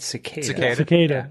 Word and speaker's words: cicada: other involving cicada wings that's how you pronounce that right cicada yeah Cara do you want to correct him there yeah that's correct okay recently in the